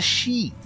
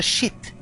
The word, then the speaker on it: sheet: It's a sheet, not a shit.